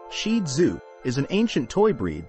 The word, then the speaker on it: Shih Tzu: owners history and Origins the shetu pronounced shidu is an ancient toy